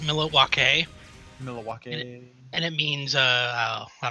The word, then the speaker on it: Milwaukee: Indian name yes Pete it is actually it's pronounced milake which is Al doin for the good land